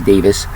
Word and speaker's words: Davies: how people pronounce it Davies but he says it's Davis so I will go with what he says since it's his name and he knows what